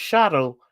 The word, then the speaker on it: shuttle: Just like we don't pronounce the T in shuttle, it's shuttle.